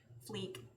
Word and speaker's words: fleek: Fleek. Wait, how are you pronouncing it? Black. Rough. Yep. It was bad. No one corrected me. I was just that guy. It's like, man, that's so on Fleck, and everyone's like, What?